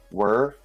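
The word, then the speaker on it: Wer: I believe that's how you pronounce it. W-E-R. Whir.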